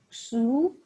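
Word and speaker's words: 嘘: The 6 sounds are Shu, pronounced like sh with a deep sigh, which is associated with the liver.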